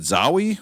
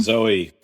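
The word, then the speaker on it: Zooey: Is it Zoey? How do you say the name? Zoe.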